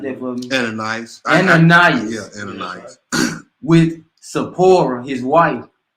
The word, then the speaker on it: Ananias: But a certain man named pronounce that for me. Ananias.